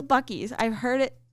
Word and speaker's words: Buc-ee's: Hayden calls Buc-ee's Boosie's. No, it's Buc-ee's. It's Buc-ee's. I've heard it pronounced.